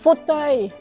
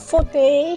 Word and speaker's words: fauteuil: It's pronounced fauteuil, not fauteuil.